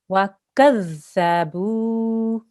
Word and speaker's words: وَكَذَّبُوا: Okay, this is a dhal, so there's no buzzing sound there. It has to be a th sound. وَكَذَّبُوا. وكذبوا. The. Say the. The. Right. That's the sound you need to make.